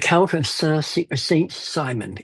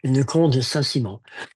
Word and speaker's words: Le Comte de Saint-Simon: And the Count of Saint Simon, and that's how it reads, but it's pronounced Le Comte de Saint-Simon.